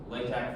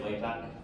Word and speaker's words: LaTeX: But it's important to know that the last letter is the Greek letter chi, not an X. So it's tech.